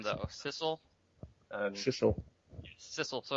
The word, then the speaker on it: Sissel: Sissel, so it rhymes with missile.